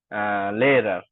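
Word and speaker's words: Lehrer: এখন হচ্ছে একটা ফ্যাশনই আমি, লেয়ারার। লেয়ারার অর্থ হচ্ছে কি, শিক্ষক। আমি শিক্ষক, যখন উচ্চারণটা করব, আপনারা সাথে সাথে উচ্চারণটা করলে আপনাদের জন্য ভালো হয়, ঠিক আছে।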